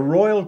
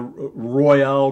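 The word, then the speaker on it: Reuel: ideas of doing the Royal Christie. That looks like, Dr. Fritz Rule it looks like, but it's pronounced Royal. So we have the Royale, people say sometimes, but it's really Fritz Royal's Christie's.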